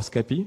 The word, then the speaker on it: Scapy: I maintain called um it's called scapy or scapy in French it's a tool used